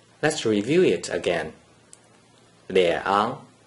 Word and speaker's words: 两: According to the rule that you just learned, a single digit 2 without any other digits in the first green circle is pronounced 两.